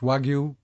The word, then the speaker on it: Wagyu: about uh your experience with the wag it's pronounced wagu cattle yep and uh had had you experienced